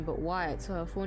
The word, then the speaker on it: White: Ellen White, so it is White. Because I saw the Y, I didn't know if I was meant to pronounce it as, you know, the I-ite.